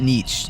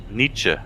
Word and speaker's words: Nietzsche: um that's why like when you're talking about like uh what was it neat not Niche it's net Nets how do you pronounce it again Nietzsche I think it's pretty oh very well yeah